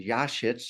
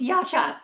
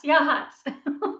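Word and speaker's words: Yachats: Um and shout out to you for your sharing your wonderful property and Yashitz. Did I pronounce it right? Pretty close. It's Yashhats. Yahhats.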